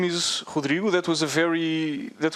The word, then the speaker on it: Rodrigo: My name is Hudriu. That was a very that was a very good pronunciation of my name.